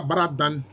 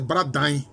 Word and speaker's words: Bradain: Chez les Tuifou, ils appellent ça Bradan. Bradan. En fait, c'est Bradain. Si on veut prononcer correctement, c'est Bradain parce que la maison, c'est Dain. Mais ça se dit dans, mais souvent, certains prononcent Dain.